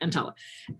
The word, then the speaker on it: EMTALA: Am EMTALA, that's how they pronounce it, EMTALA.